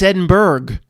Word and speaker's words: Edinburgh: It's Edinburgh. Berg. I said, what? He said, well, Matt, we got Pittsburgh. We got Harrisburg, Pennsylvania. It's obviously Edinburgh.